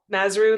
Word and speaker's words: Mazuru: name is mazuru if you're looking at my last name trying to wonder how to pronounce it nazru like kangaroo and I live in